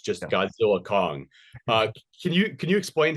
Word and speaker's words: Godzilla x Kong: And so it kind of it rose from that, and obviously it's just pronounced Godzilla Kong, but I tend to say GXK all the time because I think it sounds cool.